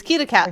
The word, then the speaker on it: Keat: Oh, uh, from left to right we have Adam, Loki, and then myself, who is Keat for the people who cannot pronounce my name.